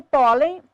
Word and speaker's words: pólen: Sílaba tônica de pólen, pó.